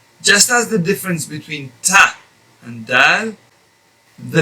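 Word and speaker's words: ط: the difference is that to pronounce this letter ta you will have to apply a much firmer touch of the tongue against the gums behind the upper teeth whereas to pronounce it's half of the amount of the touch that or or the press that you press to say the letter ta use half of that amount or maybe a little bit less to pronounce the letter dad so same uh all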